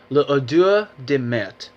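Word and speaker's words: L'odeur de Mer: So it's a fragrance based on that and it's called Le Odour de Mer. And I believe I've pronounced it right.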